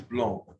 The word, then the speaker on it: blanc: Here sec, C is pronounced, but not here. It is blanc.